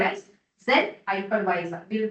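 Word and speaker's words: Xen: So for that hypervisor for that lightweight software is called as Zen hypervisor. it will pronounce as a set but the spelling is X E N.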